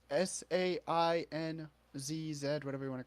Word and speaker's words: Sainz: It's Sainzz, whatever you want to call it. What? The driver for F1. How do you pronounce his last name?